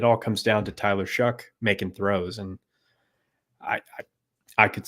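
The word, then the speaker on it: Shough: I had my doubts about, is it Shuck? Is that how you say that last name? Yeah, like you're shucking corn. Like shucking corn. Yeah, it's spelled GH on the end, but he has been good so far.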